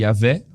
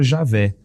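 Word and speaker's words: Yahweh: Mas os estudiosos, os melhores estudiosos, sempre vão apontar nessa direção, de que Yahvé ou mesmo Javé sejam as pronúncias assim mais apropriadas para esse nome.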